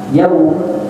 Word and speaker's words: يوم: Kemudian juga ketika mengucap yaumiddin, maka yaum yaitu tidak boleh dibaca mad di wawunya. Nah, karena yaum itu tidak boleh kita membacanya mad.